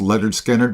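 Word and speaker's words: Lynyrd Skynyrd: Pronounced Leonard Skannard by Leonard Skannard.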